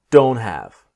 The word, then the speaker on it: don't: What I want to show you in this module is the T is silent. I don't have I don't have time.